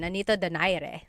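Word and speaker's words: Nonito Donaire: So, our first poll here is going to be Mani Pacquiao versus Nonito Daire or is in in the Tagalog uh pronunciation. Nonito Dire.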